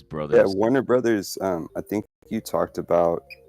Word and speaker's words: Warner Bros.: I mean, I pronounce it Warner Brothers, Warner Bros. I don't like Warner Bros. Because that sounds weird, but if it's like on like the poster or whatever, it's Warner Bros.